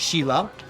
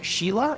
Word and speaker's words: Sila: Sila is a town in Calabria, technically pronounced Sila. I knew people would call this Sheila, and that wouldn't fit.